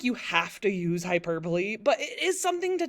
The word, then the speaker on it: hyperbole: His name is Brian Regan, and the comedy album that one was called Epitome of Hyperbole, and he purposely mispronounced it.